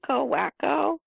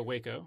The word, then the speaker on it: Waco: Well, I had actually forgotten until, and I don't even know how to pronounce this word, Wacko? Oh, Waco.